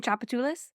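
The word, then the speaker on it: Tchoupitoulas: Have you ever seen Chapatulas? You know what it starts with? A T.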